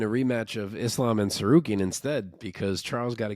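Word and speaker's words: Tsarukyan: So I thought it was Arman Sarukian. It's Sarukian.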